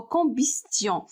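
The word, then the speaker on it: combustion: يعني أول حاجة قبل ما نبدا لكم، بالنسبة للكومبيستيون هي الاحتراق، راه تي كتنطق اوكي، واخا ما كتبانش انها كتنطق، ولكن الاحتراق بالفرنسية هو كومبيستيون.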